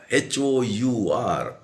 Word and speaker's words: hour: to the other exception how h-o-u-r however i will come in an hour he will say why he is not using a over because we are pronouncing it as over so it should be an hour of an hour an